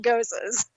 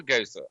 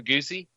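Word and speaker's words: Gose: But no, I love a Goza. I mean, 5-6 years ago, I'd pull out a Goza and everybody go, "What's that? Right. A goosey?"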